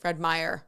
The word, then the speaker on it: Fred Meyer: said only $2.99 at Fred Meers so is it Fred Meers is it plural Fred Meyer oh I said it right okay see this is